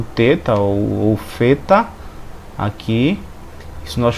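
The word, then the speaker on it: θήτα: temos agora o teta o teta ele equivale a um th th é no inglês você fosse letra fosse a palavra fim fing Então esse th aqui é Alguns vão pronunciar ele como um th em inglês como finge não como um t em português você pegar por exemplo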